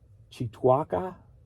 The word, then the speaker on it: Cheektowaga: So for $4, headed to how do you pronounce K after T? This is a Native American thing. Cheektowaga, New York.